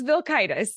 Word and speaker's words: Vilkaitis: Crystal Vilkaitis is on, and I hope I just pronounced your last name close enough. Say it one more time for me. Yeah, you were close. Vilkaitis. Vilkaitis.